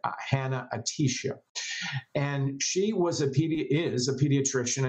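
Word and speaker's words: Hanna-Attisha: A classic example, which I write about, is Dr. Mona Atisha, or Hannah Motisha. I'm always getting her name wrong. Excuse me, Dr. Mona. Dr. Mona Hannah Atisha.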